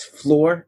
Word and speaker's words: Flore: you spell that aaron that's lore with an f at the beginning so it sounds like floor but it's not the floor you're thinking because it's our floor